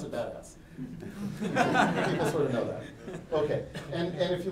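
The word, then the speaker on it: BDAS: I said it nevermind it's BPA as we pronounce it badass okay and and if you look at badass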